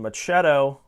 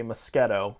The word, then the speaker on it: moschetto: and instead of saying machetto i say moschetto let's pronounce it like mosquito so anyway um part